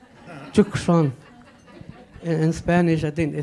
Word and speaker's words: Chukshon: So I always tell people, the C is not silent, it's Chukshon. In Spanish, I think they say Tucson. So I say, yeah, the C is not silent, it should be pronounced.